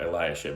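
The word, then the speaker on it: Eliashib: by eliasib and I I may have said that differently just a minute ago but eliasib I think is how it's pronounced um but during all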